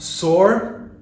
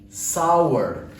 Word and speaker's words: sour: I've heard this so it is not sword the taste it is sour okay this sour however